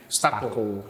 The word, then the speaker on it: Stuco: Dulu sih gue pengennya orang bilangnya Stuko.